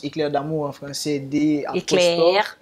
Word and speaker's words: Éclair d'Amour: c est clair d'amour ça c'est que comme ça se prononce éclair d'amour en france et des